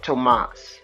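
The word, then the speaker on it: Tuomas: Oh, you pronounce it as Tomas. Lasalo. Okay. Lasalo. Tomas.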